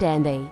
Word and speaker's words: Anth: Anth is pronounced Anthe.